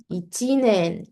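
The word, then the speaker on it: 一年: Tapi kalau Ichi ni sangshi itu bacanya nen. Ichinen.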